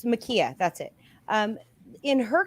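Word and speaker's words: Ma'Khia: the case of um it was a makai makaila what was her name how do you say kayla okay it's makia that's it um in her case you know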